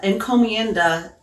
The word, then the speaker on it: encomienda: Spanish used was called the encomienda I hope I'm pronouncing it right yes yes you are okay well uh encomienda it comes from the